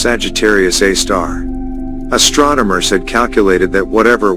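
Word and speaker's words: Sagittarius A*: of radio noise called Sagittarius A, pronounced Sagittarius A star.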